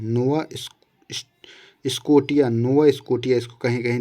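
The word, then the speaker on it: Nova Scotia: फड़ी फड़ी फड़ी की खाड़ी में आता है नोवा स्कोटिया नोवा स्कोटिया इसको कहीं कहीं दिया जाता है इसका उच्चारण इसी तरीके से है विश्व का सबसे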